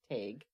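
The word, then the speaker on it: Tadhg: one-eyed tag and that's spelled t-a-d-h-g if anybody's wondering take take yep um that's how my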